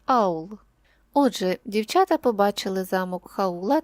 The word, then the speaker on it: Хаул: відрізняється вимова ім'я хаул коли ми бачимо літеру Ака ми вимовляємо її як х але в італійській мові ця літера німа вона не вимовляється і тому ми ім'я хаул чуємо як аул Отже дівчата побачили замок